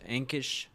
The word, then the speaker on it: Ankish: We have Evangelist Ankish, I think is what I was told by one of his team members, is actually how it's pronounced.